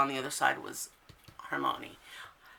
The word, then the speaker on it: Hermione: that you saw on the other side was Hermione. Hermione, that's what it is. I always had a hard time pronouncing her name.